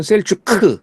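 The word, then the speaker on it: Selçuk: 한글로 표기하다 보면 셀추크 막 이렇게 쓰는데 여러분들은 이제 거기 계시기 때문에 셀축으로 끝나죠. 사실은 발음이. 한국에서는 그거를 허용을 또 안 하더라고.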